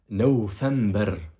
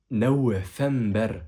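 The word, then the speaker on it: نوفمبر: C'est juste que là, encore une fois, on ne met pas le V parce que le V, c'est une lettre qui n'est pas officielle dans l'alphabet arabe.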